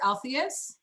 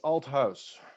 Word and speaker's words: Althuis: your last name robert altheus uh actually no it's alt house so it's just like as as as if it's house in english yeah okay old times